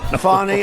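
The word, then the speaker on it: Fani: funny it's spelled Fanny it's spelled Fanny like your ass right Fanny but when she became da she decided to add a little French a little fancy fny fonny and you know fonny and Mr and Mrs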